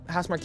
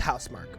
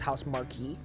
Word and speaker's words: Housemarque: freaking game right so I have no doubt house Mark is going to blow it out the water and look just so everybody knows it's pronounced hous Mark okay but way early on when I first